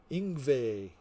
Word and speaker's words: Yngwie: Yngwie.